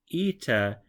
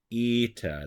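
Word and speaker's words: ήτα: in the Latin alphabet eita is one of the more confusing ones for English speakers because the capital letter looks like an H the lowercase letter looks like an N however this is a long e sound and you're gonna find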